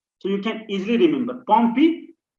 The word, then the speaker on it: Pompe: So you can easily remember Pompe. So two syllables are there, Pompe.